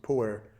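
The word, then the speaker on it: Pu'er: I believe this particular batch of pu some pronounce it puer tea from China is about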